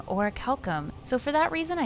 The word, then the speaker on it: Orichalcum: And I couldn't find any NPCs in-game saying Orichalcum, so for that reason I decided to add it in, just in case a few of you have been referring to it as Ori-or, such as myself.